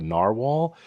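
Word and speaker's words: Nahvalur: falling in love with this is called narwhal it's spelled a bit different than like the animal this is n a v a l u r and I am just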